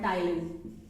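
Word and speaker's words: ptyalin: contains an enzyme called Tylin this contains an enzyme called Ty okay t i a l i p t i a l i okay so p is silent over here next is uh that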